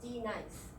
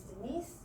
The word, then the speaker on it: Denise: Second is in the case of Denise. The substitute teacher pronounces as D-nice, 2 syllables and 2 stresses. However, the original pronunciation is Denise with 2 syllables, but the stress only at the behind.